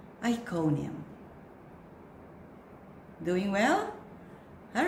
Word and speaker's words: Iconium: Iconium. Iconium.